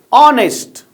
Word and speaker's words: honest: Hospital as I told you earlier ha in Telugu like this in phonetics we use like this ha a hospital honest it is a an honest man you must have a